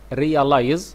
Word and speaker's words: realize: برضو الكلمة دي جميلة، الاس أنا بتنطق زد، realize يعني يدرك.